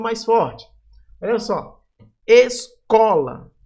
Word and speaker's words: escola: Escola. Ó, o có aqui vai ser a sílaba mais forte. Escola.